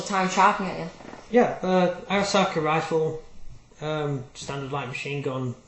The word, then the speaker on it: Arisaka: Is it Oriska or Arasaka? I know you pronounce it. It's Arasaka. Arasaka.